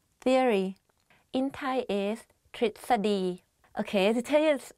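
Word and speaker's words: ทฤษฎี: Tritsadi, theory. In Thai is tritsadi. Okay, to tell you a secret, even I don't pronounce this word properly when I talk.Because it's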